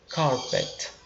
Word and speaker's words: carpet: E dica de pronúncia, tá? Esse T do final, né? De carpet, ele é um pouquinho suave, né? Ele soa bem fraquinho, né? A gente fala carpet.